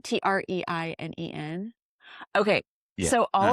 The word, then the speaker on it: Treinen: Do you know how to say this name? I don't know, Trinan. Treinen.